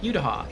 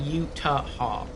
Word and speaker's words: Utah: that's what I said utaha she's like no no you're saying utaha it's like Utah two syllables and I'm like well